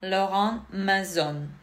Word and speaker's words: Laurent Mazzone: And the first one that I would like to introduce to you is Laurent Mazzone. I pronounce it in a French manner because this is a French brand, and I hope Mr.